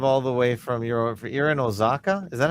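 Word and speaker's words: Oaxaca: Um, and you drive all the way from your Ozaka. Is that how you say it? Oaka. Aaka. The X is silent or the X is a W.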